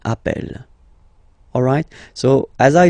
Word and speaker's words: appelle: they are the same, then it does change the pronunciation of e. You tend to pronounce it like really open. That's the reason why you pronounce it appel, okay, appel, and appel.